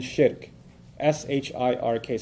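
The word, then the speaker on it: shirk: to God is called I'll spell that out for you to Sh I arcade so nothing works for a Muslim from a faith perspective nothing worse than Shi RK sounds like Shrek so that's easy to remember right nothing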